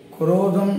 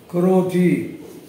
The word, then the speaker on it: குரோதி: என்ற விசேஷமான ஒரு வருடம் குரோதம் என்று சொன்னாலே காம குரோத லோப மோக மதமாச்சரியம் அப்படிங்கிற ரீதியில இரண்டாவது ஸ்தானத்துல குரோதம் அப்படிங்கிறது இந்த குரோதம் அப்படின்னாலே விரோத பாவம் குரோதி அப்படிங்கறது சொல்லக்கூடாது குள்ள இக்கு போட்டு குரோத்தி அப்படிங்கறது தான் நம்ம உச்சரிக்கணும் அப்படி ஒரு விசேஷமான இந்த